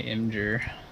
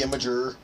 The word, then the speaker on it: Imgur: Might even have it on my Imgur. The Imager. The Imager. Imgur. Imgur. People pronounce that in different ways, like Imgur, Imgur.